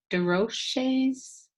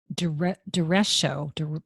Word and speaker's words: derecho: You talked about, is it DeRoche's? It's Derecho. I pronounced it wrong.